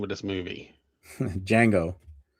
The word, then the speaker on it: Django: Django. Yeah, I always put the D in it.